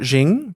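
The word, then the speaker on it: Qing: So it's spelled Q I N G. Is that Jing bars? Oh yeah. I think it would is the Q a Z. Yeah, I think so.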